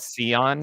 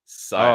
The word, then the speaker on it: Scion: Oh, does he call it Sion or Scion. something? Scion. Oh, okay. Yeah, no, this game is full of characters that you can pronounce differently.